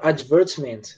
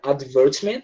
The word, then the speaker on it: advertisement: Essa palavra advertisement, ela pode ser tanto pronunciada advertisement, como eu pronunciei, como também pode ser advertisement, tá? Britânico fala advertisement, tá? Americano fala advertisement, tá?